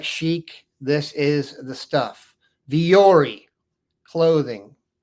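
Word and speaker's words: Vuori: Viori clothing. Spelled V-U-O-R-I. Who knew? Viori is how it's pronounced.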